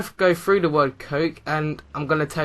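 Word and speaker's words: COAQE: And the word I use to remember these 5 points is coke. And not coke as in C-O-K-E. It's actually spelt quite weird. It's C-O-A-Q-E.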